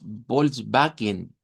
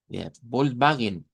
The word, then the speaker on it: Volkswagen: Cuando vemos escritas las Ws, en realidad se pronuncian como y si no recuerden, una de las marcas más famosas de de vehículos eh de Alemania, nosotros le decimos Volkswagen. Volkswagen e y así como debe de pronunciarse porque la W se pronuncia como V. Volkswagen, que de hecho la